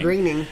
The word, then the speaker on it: Groening: It's pronounced Groening. Groening.